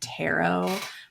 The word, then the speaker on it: tarot: this at all yes they're like tarot two row cards and I'm like have you never heard the word Tarot like I feel like